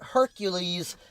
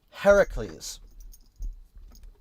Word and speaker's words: Heracles: not a Roman figure, it makes sense to use the Greek pronunciation. This is one thing I always respected the Fate franchise for because the Fate franchise uses the proper spelling and pronunciation of his name. Always remember this. It's not Hercules, it's Heracles figures together to find